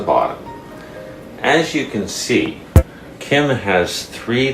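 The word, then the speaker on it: 김: namjoon now all right Kim the first letter in is good which is close to a G but when you put it in someone's last name it's like a K the second letter is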